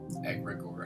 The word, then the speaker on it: egregore: Egregore. Egregore. That's how you pronounce it.